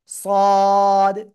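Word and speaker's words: صاد: সদ, সদ, একটু মোটা আওয়াজ হবে, সদ, সদ, চার লিপ টান। জিহ্বার আগে সামনে নিচে দুই দাঁতের পেট ও আগের সাথে লাগিয়ে মোটা আওয়াজে আমরা উচ্চারণ করব।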